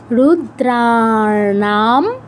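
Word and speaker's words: রুদ্রাণাং: 23 কি আছে রুদ্রনাম রুদ্রনাম দ্রাতে দীর্ঘ না তে দীর্ঘ করে অনুস্বারের উচ্চারণ অনুস্বারের উচ্চারণ কি ময় হসন্ত শংকর শংকরস চাসমিশ ও যেন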